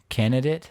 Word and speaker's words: candidate: How do people mispronounce candidate? Candidate. Candidate. Candidate? They just forget that D. Yup. The candidate. I guess if you're saying that too fast, I could see candidate, Yeah. but it's a candidate.